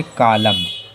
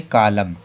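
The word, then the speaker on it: column: उदाहरण के लिए देखो सी ओ एल यू एम एन तो यह के बाद में एन आया यह के बाद में एन आया तो हम लोगों का एन साइलेंट है तो उसे क्या पढ़ेंगे कलम क्या बोलेंगे कलम एक और उदाहरण तो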